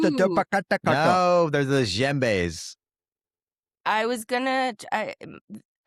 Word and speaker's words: djembe: But they're called the No, those are djembes.